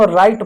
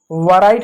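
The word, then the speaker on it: write: इसको हम राइट पढ़ते हैं। वैराइट नहीं पढ़ते हैं। इसमें डब्ल्यू शांत होता है।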